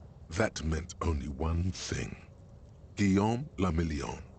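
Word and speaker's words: Guillaume Le Million: meant only one thing guillaume lamillion if it doesn't dry you're not pronouncing it right out of the dazzling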